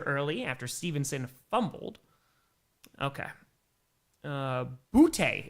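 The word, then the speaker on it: Boutte: Butte is how you pronounce his name.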